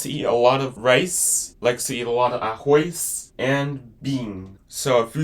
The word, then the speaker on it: arroz: Rice in Portuguese, arroz. Arroz. This is how you spell it.